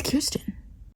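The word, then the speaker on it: Kiersten: same name and then pronounced her name wrong it's Kirsten I'm gonna try to explain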